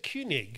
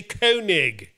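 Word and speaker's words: Koenig: great work best regards rob kig you said kunig kunig but in America and in in Britain we say kig why but it's like commander kig in space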